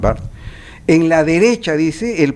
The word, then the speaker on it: Barthes: Dice Roland Barthes, perdón, esa es la pronunciación correcta, no es Barthes. Se escribe Barthes, pero se pronuncia Roland Barthes.